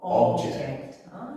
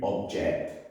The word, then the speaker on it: object: Okay, so the logic is if the word is a noun, then the stress normally comes on the first syllable in the word. So, for example, object. But if it's a verb, the stress is normally on the second syllable. So, to object.